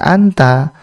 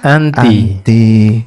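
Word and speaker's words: أنتِ: Karena ya khobarnya ini kan muannas. Kamu ini adalah orang yang cerdas. Cerdasnya kan perempuan. Maka bukan kita baca anta, tapi kita baca anti.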